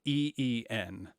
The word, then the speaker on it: in: d so the word in say it like think like e e n yeah we want that nice latin e not a not a short in but een so we hear